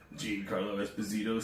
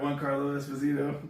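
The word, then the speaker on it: Giancarlo Esposito: to do with that Jean Carlo bazito stars in the come of Christ that say his name right one Carlo Esposito that's his name I think so isn't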